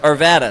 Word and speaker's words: Arvada: guys if you're new to Arvada first it's pronounced Arvada second it's Old Town with an e right